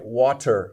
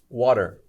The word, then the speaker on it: water: okay butter or even words like water we don't say t we usually say d water that's very common but